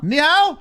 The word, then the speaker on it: Ni hao: Ni hao.